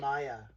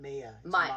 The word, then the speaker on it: Maya: It's Maya, not Mia.